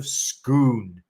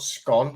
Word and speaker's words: Scone: stone of destiny the stone of schoon that's what it's called not scone although it looks like it's spelt like that it is schoon you know but this